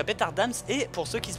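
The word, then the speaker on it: Bthardamz: Et j'étais à Bétardasme. C'est comme ça que ça se prononce.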